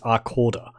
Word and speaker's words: Arcada: It's actually pronounced Arcorda.